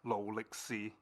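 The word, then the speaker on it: 勞力士: And yeah, in Cantonese, Rolex is pronounced Lolixi, and Gam means gold.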